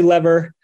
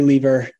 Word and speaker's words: lever: oh man so um lot of our Commonwealth friends do say lever so the UK folks and uh Australians um we say lever can be lever spelled the same so we don't mind